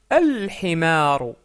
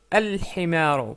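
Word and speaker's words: الحمار: Donc himarun, un âne, ça devient, pour dire l'âne, al-himaru, al-himaru. Pourquoi? Parce que le ha est une lettre lunaire.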